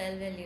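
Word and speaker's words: lvalue: In C++, any expression that refers to an internal memory location capable of storing data is called I value, pronounced as L value.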